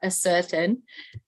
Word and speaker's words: ascertain: This is a very confusing word how to pronounce because it has the word certain in it. So why is it not ascertain?